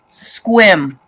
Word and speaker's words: Sequim: is oh I'm gonna tell you right now squim it's pronounced s-e-q-u-i-m it it looks like Sequim oh